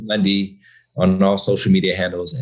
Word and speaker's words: Mundy: Like, they used to always say Monday, and I'm like, there's no A in my last name.